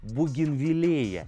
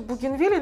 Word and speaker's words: бугенвиллея: кладезь информации так вот она сказала что правильно произносить бугенвиллея и это действительно так и логично мы привыкли что бугенвилля но мне кажется будем